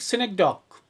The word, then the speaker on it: synecdoche: We pronunciate it like synecdoche.